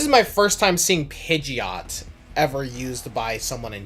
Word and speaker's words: Pidgeot: Apparently, one handbook used to have Pidgeot pronounced as Pidgeot. Yeah. But we all know that's the incorrect one as we all know the the official pronunciation is Pidgeot.